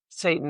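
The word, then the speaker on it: Seyton: the play before named Satan, S E Y T O N, but it's pronounced Satan as in the devil, is the only person that is left with him.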